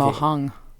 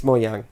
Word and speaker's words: Mojang: Mojang, is that how you pronounce Mojang. it? It's How about Scandinavian. Mohang? It's Mojang.